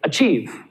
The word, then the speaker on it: achieve: For example, let's take the word here, achieve. Achieve. The stress is on the second syllable, isn't it?